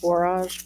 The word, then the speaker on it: borage: how you say it borage borage borage like porridge but with a be it is okay it's